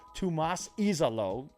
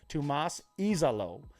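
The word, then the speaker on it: Tuomas Iisalo: The interim head coach, Tomas Izalo, I went and I got the pronunciation guide. Thank you to the Memphis Grizzlies game notes. He is Finnish. He's from Finland. Tomas Izalo.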